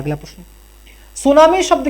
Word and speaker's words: tsunami: यह पूछा था कि सुनामी की स्पेलिंग कौन सी है। इस तरह थी, ठीक है। तो ये जापानी भाषा का शब्द है और उसमें टी जो है वो साइलेंट रहता है।